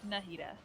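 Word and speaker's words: Nahida: name coming at you it's pronounced nahita nahita okay anyways I I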